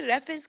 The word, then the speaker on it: raphide: रेफिस crystal लिखा हुआ है, RAPHIDE प्रोनाउंसिएशन होती है रेफिस क्रिस्टल, रेफिस क्रिस्टल.